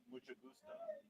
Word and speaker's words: mucho gusto: Mucho gusto.